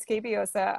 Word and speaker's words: Scabiosa: feel bad for them so yeah you did pronounce it right scabiosa um and you can't locate it um honestly